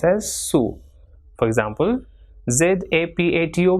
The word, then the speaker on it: zapato: For example, ZAPATO will be pronounced as zapato.